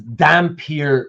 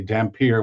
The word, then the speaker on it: Dampyr: and a human woman, the offspring is a damper, which they spell dh y, but for this series they dropped the h.